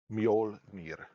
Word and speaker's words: Mjolnir: It's It's cool how you spell it. It's m j uh o l n i r. Mjolnir.